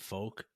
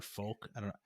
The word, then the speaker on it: folk: I just want to appreciate as well, you definitely are a fan of that music by the fact that you pronounce the L and folk or folk.